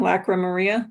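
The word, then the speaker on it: Lacrymaria: Lac No, you you had it right Maria. Lacrimaria. Lacrimaria. Good. Lacaria.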